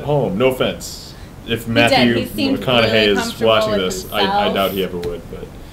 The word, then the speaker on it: McConaughey: think, oh, it's Mcconaughey, because if you just put the wrong emphasis on the wrong syllable, it's really Mcconaughey.